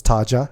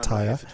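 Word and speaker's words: Tarja: Taya is I thought it was Taja, but Taya.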